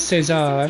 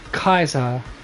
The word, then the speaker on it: Caesar: If you're depending if you're pronouncing it like the as the Hispanic and the Spanish and probably Portuguese way of saying it, or Kaiser as it's pronounced in classic Roman.